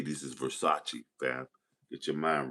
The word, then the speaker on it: Versace: This is Versace, fam.